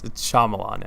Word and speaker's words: Shyamalan: It's Shyamalan, Ed. Shyamalan? Yeah. Wait. Shyamalan, yeah. Where's the Y? I don't know. Well, it's in there, but it's Shyamalan. It's not Shyamalan?